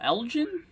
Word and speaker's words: Elgin: at it um looks like right here for Elgin that's apparently that's how you say it now